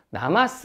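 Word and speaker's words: なます: 해 라는 9패 짜요 회는 일본에서 나 마스 라고 읽었는데 이는 처음에는 요 동물이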